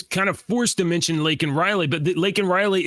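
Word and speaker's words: Laken Riley: now L Lake uh Lake and Riley Lincoln Riley though uh Joe Biden referred to her as Lincoln Riley last night on the L yeah he said her name wrong he said her name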